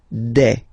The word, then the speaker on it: des: Okay, and then the plural form, des. All right, here S, you pronounce it like e.